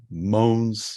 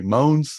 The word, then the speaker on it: Mogens: and I'll say it in the American way moans well I'll see it in a hybrid American Danish way moans at least I pronounced that part right and I pronounced that part wrong but I'll let moans